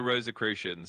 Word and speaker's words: Rosicrucians: It's the Rosicrucians.